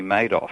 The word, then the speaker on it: Madoff: So Bernie Madoff with the money.